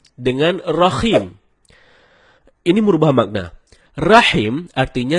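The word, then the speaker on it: الرحيم: ada sebagian kita membaca rahim dengan rahim. Ini merubah makna. Rahim artinya yang maha penyayang, sedangkan rahim artinya maha merdu. Bacaan yang benarnya insya Allah dengan huruf H dalam tenggorokan. Jadinya rahim, bukan rahim.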